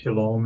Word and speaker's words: Shalom: And the O sound in Shalom, where does that come from? It's from the Wah. O-W. The Wah. It's the Wah. Yeah, the Wah in Hebrew is pronounced either as a O or U. And the overwhelming percentage of the time, about 90% of the time, it's pronounced as O, as in Shalom.